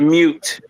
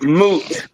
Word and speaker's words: moot: There's no such thing as mute. It's moot. Moot point.